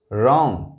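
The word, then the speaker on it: wrong: यहां देखें आप, W सभी साइलेंट है, W W W W एंड W। यह है right, रॉन्ग, wrist, wrestler, wrinkle.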